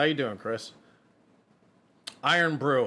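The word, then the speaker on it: Irn-Bru: how you doing Chris iron Brew okay so that's how you say it uh Aries in the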